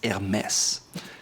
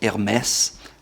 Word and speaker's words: Hermès: Probably one of the most well-known luxury brands is Hermès. It has an H in the beginning, but in French, usually that's silent, so it's not Hermes or Hermès, it's Hermès.